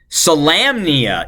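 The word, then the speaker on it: Solamnia: how to say salamnia salamnia it is lamb with an Lam okay there you go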